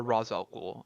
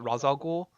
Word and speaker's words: Ra's al Ghul: Roger rage all rights it depends how you pronounce it aching your parents a tray struggle or Ra's al Ghul I pronounce that Ra's al Ghul okay um what's the pokemaster rachele cool I think it can be pronounced either way to tomato tomahto scenario ok and then Surtsey